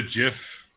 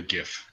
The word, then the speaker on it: GIF: that word is well if the originator of it calls it a jiff I'm gonna call it a gift that's right contrary all